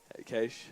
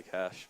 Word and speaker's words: Cache: And we do have the last cage, which which is Cache, or Cash, or however anyone wants to pronounce it. Cache, I'll say Cash, but Cash. It's Cash officially overseas. Cache.